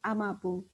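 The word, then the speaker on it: Amagerbro: You can imagine when it's written Ama Gerbro. It's a name of area in there, and then we pronounce it as Amabu.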